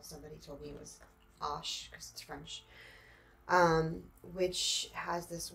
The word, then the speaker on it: Arches: cold press which also a lot of people pronounce arches that's how I pronounced it to you until somebody told me it was Ash scrunch um which has this washi tape border